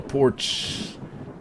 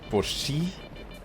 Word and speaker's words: Porsche: It's a German mark, so the last E is pronounced, what, Porsche?